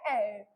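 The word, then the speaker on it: heir: अब इसका प्रोनाउंसिएशन देखने में आपको HIER देखने को मिल रहा है, बट इसका प्रोनाउंसिएशन होता है एयर.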